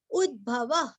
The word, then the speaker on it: उद्भवः: वेगवानमिताशनः आगे बढ़ेंगे 54 उद्भवः क्षोभणो देव श्रीगर्भः परमेश्वरः करणं कारणं कर्ता विकर्ता गहनो गुहः उद्भवः उ छोटा ऊ है वहां पे आधा द और भ पूरा है उद्भव विसर्ग का आधा